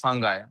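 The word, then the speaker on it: fungi: नहीं, इफ यू the real pronunciation is फंगाई।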